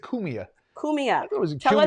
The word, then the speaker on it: Cumia: Wildlife being when you were kids with Anthony I'm saying it wrong. Cumia. Actually, he Cumia. pronounces it Cumia.